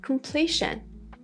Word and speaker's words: completion: And the noun is completion.